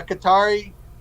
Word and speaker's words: Qatar: soft on China platform you look at Qatar or Cutter however you want to pronounce it now you to be Qatar not cutter you that that country